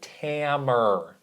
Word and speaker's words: Tamer: Tamer, because it rhymes with hammer.